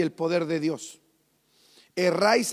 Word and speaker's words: erráis: Erráis escribe sin h. Err e r a i s. E rais. Y lleva un acento en la a.